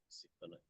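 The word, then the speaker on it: סיטונאי: Sitonai.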